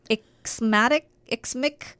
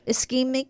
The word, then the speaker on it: ischemic: unstable angina, stroke, transient ischemic attack. Ischemia? Oh, ischemic. I feel like it's a scheme. Ischemic, you're right. I think somebody in my family had that, and that's why I know how that's pronounced.